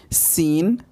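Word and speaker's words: سين: এই সিন এবং শিনের মধ্যে পার্থক্য হচ্ছে যে এটি আমরা মুখ থেকে সিস কাটার মতো উচ্চারণ করব, সিন।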